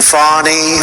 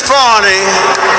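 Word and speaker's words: Fani: local attorney generals and fonnie fonnie you know fonnie spelled f a n i my name is fny f a n i i don't figure it put little French accent on the word with her lover Wade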